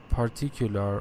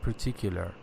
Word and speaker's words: particular: And you said particular or something, but the correct pronunciation particular.